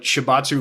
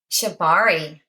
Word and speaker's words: Shibari: And I would love for you to explain better what shibatsu rope tying is. If I said it right, did I say it correctly? Shibari. Shibari. I said shibatsu, didn't I?